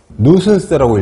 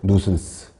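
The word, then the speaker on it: nuisance: 뭐냐하면 거기 나와 있죠 성가심이나 불쾌감 뉴슨스라고 읽어요 뉴슨스 혐오감 성가심 귀찮음 보통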